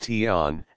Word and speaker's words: TON: delay on timer sometimes called a ton pronounced ton and the delay off